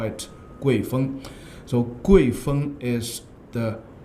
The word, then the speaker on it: 郐风: Hello everyone, today's poem is Gui Feng, Fei Feng, a Gui Wind from the Book of Songs. Someone will pronounce this wind as Kuai Feng.